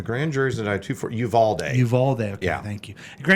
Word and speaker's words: Uvalde: A grand jury's indicted two for Uvalde.